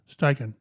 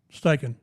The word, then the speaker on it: Steichen: say station right and I went on YouTube or Google and it was President pronunciation of steichen and you click it on and it's like 10 seconds of it's stiking staking so now instead of